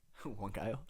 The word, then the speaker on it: Huancayo: And if you had any advice to somebody that just got their call to Peru, how do you pronounce it? Huancayo.